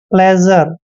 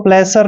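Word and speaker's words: pleasure: miracle next word देखिए पी एल ई ए एस यू आर ई पी का उच्चारण हम प करते हैं एल को ल पढ़ते हैं और ई का उच्चारण ए करेंगे जब भी एस से पहले ए आता है तो एस का उच्चारण ज करते हैं ठीक है और देखिए यू आर ई का उच्चारण सीधा ही र करना है प्लेजर इसको प्लेसर नहीं पढ़ना है आपने प्लेजर पढ़ना है और प्लेजर मींस होता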